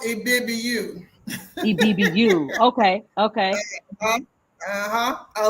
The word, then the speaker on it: Ibibio: But it's pronounced Ibibiu.